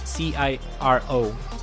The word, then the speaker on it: Ciro: It's not S, it's Ciro. Ciro, like Ciro Immobile, Ciro Immobile, I don't know.